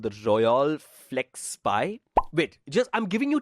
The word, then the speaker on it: Royole: ROYOLE. So it's not royal. It's Royole or Royole. Royole.